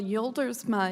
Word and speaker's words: Joldersma: Well, Yoldersma is how they would say it in the homeland. So you're exactly right, but we say Joldersma here in the U.S.